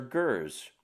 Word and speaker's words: ger: foreign places minor point Mongolian yurts are Gers you use ger religiously yeah what's wrong